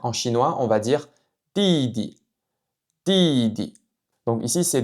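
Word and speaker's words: 弟弟: Le deuxième caractère est prononcé avec le ton neutre.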